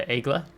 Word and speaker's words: Aigle: premium french destroyer the agla yes i really work to remember i'm pronouncing uh the ship after a viewer commented uh a link uh the egla yes the egla uh so i'll do